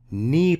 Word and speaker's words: knee: to protect your knees knee pad silent que no que knee knee pads don't bring